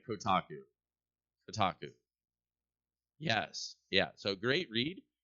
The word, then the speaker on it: Kotaku: CEO or something yeah it's all like the taco Kotaku KO and Kotaku don't don't make me spell it all right Kotaku Kotaku yes yeah so great read um about the